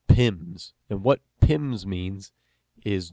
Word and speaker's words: PIM: you might hear somebody refer to something called pims and what pims means is just the way we pronounce p-i-m which is an abbreviation for penalties